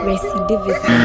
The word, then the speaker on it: recidivism: Recidivism. Recidivism. That's what I see. She try. Just the way that she pronounced and wavy wrong. But it'd be recidivism. Recidivism. So not a re.